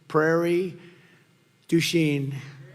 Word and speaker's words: Prairie du Chien: get worse actually so we're here today in Prairie duen is that a good yeah yeah good pronunciation you could have given me a little